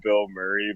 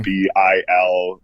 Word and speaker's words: Bilmuri: I like his band name is called Bill Murray, but it's spelled weird. Okay, it's got you. Bilmuri.